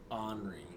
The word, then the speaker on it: Henri: I should have spelled it like Henri. Like H-O-N. The H-O-R-N. Henri. Henri. It's Henri with a silent H. He's Henri. Isn't... Yeah. It's almost like ornery. Ornery.